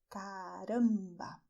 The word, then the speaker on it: caramba: The pronunciation of this letter is the one that we have already learned, "CARAMBA!", and you may notice that this sound is nasal.